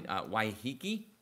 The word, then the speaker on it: Waiheke: I don't know how to pronounce anything here, so... Yeah, everything is really... Waiheke?